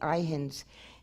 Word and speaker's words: Ihin: And the name of that race, again, which I borrow from Owaspe, is the Ihins. It's spelled I-H-I-N.